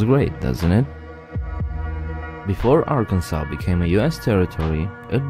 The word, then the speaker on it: Arkansas: about Arkansas America's Natural State and yes it's pronounced Arkansas not Aransas or Arkansas believe me there's actually a law that regulates